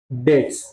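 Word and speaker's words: debts: ऑफ हिज क्या बेटा डेट्स B silent है लेकिन लिखते पे ऑफ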